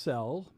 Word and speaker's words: Sel: So, okay, Sel is saying it is pronounced Sel, short for Giselle.